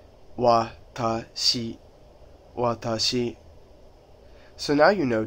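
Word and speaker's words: 私: I is watashi, watashi, watashi. Notice how my pronunciation is very flat, and there's no other emphasis in my voice.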